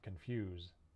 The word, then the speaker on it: confuse: And there's also some words that end S-E, where it's actually a Z sound, like rise, pose, and confuse.